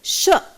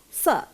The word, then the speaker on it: sure: this sound well right sure it is not sir we don't say sell sell gives another meaning we don't see plain